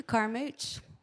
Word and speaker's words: Carmouche: Yeah, Carmouche. I thought there was another way to say it. There's 3 ways to say it. Usually, if you're in like deep southern Louisiana, it's Carmouche.